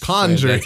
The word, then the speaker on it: congeries: Conjuries. That's how you say it.